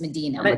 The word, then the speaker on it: Medina: And I'm pronouncing that wrong, right? It's Medina. Medina, we call it. Yes, I am pronouncing it from a city in California that was Medina, but it's Medina where you are.